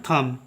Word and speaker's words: thumb: अब इसी प्रकार से नेक्स्ट देखिएगा, THUMB को थंब नहीं पढ़ते हैं, इसको पढ़ते हैं थम। ठीक है, बी साइलेंट है।